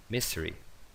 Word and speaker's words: misery: Misery.